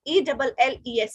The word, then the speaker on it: elles: the last in French, whenever S is coming at the last in French, we don't pronounce it. So that's why ILS is illa and ELLES is elle, because S is not pronounced.